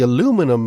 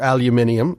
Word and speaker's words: aluminium: pre-ordering price range for the aluminum model or aluminium however you want to pronounce it whatever it starts at